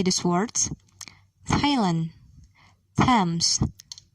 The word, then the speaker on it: Thames: few names listen and say these words thailand thames thomas note the letter t is silent in a few words listen and say